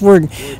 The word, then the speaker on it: Worden: It's pronounced Worden.